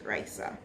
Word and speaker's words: Raisa: what is my name my name is raisa that's the pronunciation of it it is risa second question what is